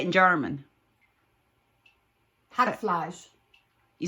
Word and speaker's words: Hackfleisch: Hackfleisch.